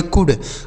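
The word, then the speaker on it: could: चलिए, अगला शब्द है सी ओ यू एल डी। तो सी से हो जाता है क। इस ओ और यू का उच्चारण यू हो जाएगा। और देखिए एल यहां साइलेंट है। डी से ड हो गया। इसे पढ़ेंगे कुड।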